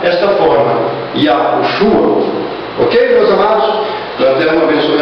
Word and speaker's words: Yahushua: Bom, para mim, pronunciar o nome do Salvador da humanidade, eu decidi pronunciá-lo desta forma. Iaoruxua, a forma que, devido às pesquisas que eu tenho feito, eu tenho achado mais coerência nela.